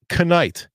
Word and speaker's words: knight: Like knight. Knight, for instance, because clearly adding a silent K is the key to becoming a legendary warrior.